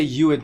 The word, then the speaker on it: UUID: me though uuid yeah i've heard some people say you it before but i've just always said uuid well let's see okay